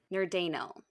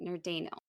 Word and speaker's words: Nerdanel: Nerdanel. I was trying to remember how to say it. Nerdanel. It literally looks like the word nerd, and then Anel.